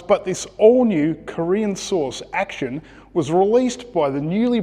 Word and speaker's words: Actyon: It's actually pronounced Action, which is an amalgam of action and young.